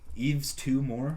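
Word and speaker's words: Yves Tumor: Eve's Two More is the name of it? It's spelled Y-V-E-S, but it's pronounced Eve's Two More.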